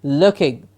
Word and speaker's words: looking: o sound while looking please remember llk ing is the earth sound and not the OOD not looking but looking while looking at all